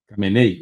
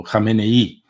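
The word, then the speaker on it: Khamenei: engano é o ayatolá cenei ou renei né cenei fica mais fácil mas parece que a pronúncia é algo assim como renei eh eh e Eh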